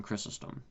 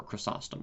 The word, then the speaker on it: Chrysostom: goes back very far one of the far places that it goes back to is John chrysostom or chrysostom sometimes he's pronounced um he was very early Greek Christian